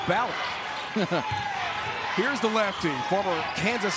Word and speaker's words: Ballock: Fans in Omaha are saying no, not Ballock, it's Ballock.